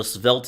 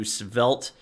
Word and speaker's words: Svelte: can just go to svelt and it's spelled with a t at the end so s v e l t e dot dev if you